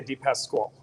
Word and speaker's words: DePasquale: italian yep okay so it's pronounced i say a d-pass squall okay yeah a little